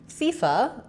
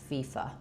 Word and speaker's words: FIFA: Letter I says the E vowel, and it has first syllable stress. So I would write that as fee. And then letter A says the or schwa vowel. It's reduced and short. So long on your fee and short on your fa.